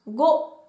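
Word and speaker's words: 五: On continue avec le chiffre 5 qui se prononce go.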